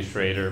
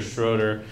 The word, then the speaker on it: Schroeder: to say my name it's schrader but it's we sell we tell the bill collector schroeder because it's easier to spell i don't know it's like we dropped the umlau when we got in the docks but i don't know